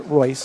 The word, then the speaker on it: Royce: That's Bruno Royce. It is spelled. Coach Peacock told me, he said you pronounce it Royce.